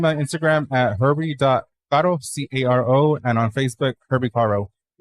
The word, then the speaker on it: Caro: Yeah, it's like Herbie Carr without with the no.